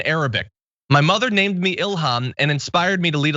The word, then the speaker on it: Ilhan: So Ilhan Omar says Ilhan Ilhan I prefer Ilhan. I never like the M sound. It means inspiration in Arabic. My mother named me Ilhan and inspired me to lead a life of service to others.